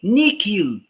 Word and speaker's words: nihil: Uma vez houve uma discussão muito grande, por que não nihil? E sim nihil. É uma pronúncia um pouco estranha, um H com som de K, mas não fui